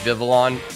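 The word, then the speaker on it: Vivillon: pavilion the villain i did vivalon viva there we go i think that's how it's actually pronounced but uh yeah i forgot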